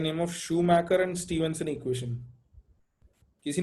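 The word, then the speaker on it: Schumacher: तो नाम सिर्फ मैंने इसलिए लिखा है कि इसको शू मेकर नहीं पढ़ना है, जूता बनाने वाला नहीं है। ठीक है, दिस इज शूमैकर। माइकल शूमैकर कोमा में गया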